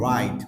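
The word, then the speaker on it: wrong: পূর্বের ওয়ার্ডটা ডব্লিউ থাকে সেক্ষেত্রেও আমরা ডব্লিউ এর উচ্চারণ হয় না সরাসরি আর এর উচ্চারণ চলে আসে যেরকম right most common words right right right another one ইজ রং রং রং এখানে আমরা ডব্লিউ এর উচ্চারণ করছি না সো হোপ ইউ হ্যাভ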